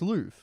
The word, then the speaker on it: Louvre: No, it's Louvre.